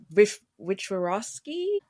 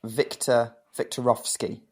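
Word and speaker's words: Wiktorowski: Victorovsky? I said it wrong. It's kind of like Viktorovsky. So like the W sound like V's.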